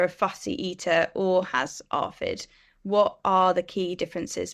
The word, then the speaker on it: ARFID: new terminology for me is it pronounced arid or do you say a r fi D arid arid so um yeah this is